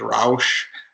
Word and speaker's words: Rauch: So we changed name to Rock Precision. It's R-A-U-C-H, and yes, the true definite or pronunciation in German is Rausch.